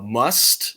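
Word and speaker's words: musth: thing called uh I'm gonna probably butcher the pronunciation uh must it's m-u-s-t-h but it's where they're in Wild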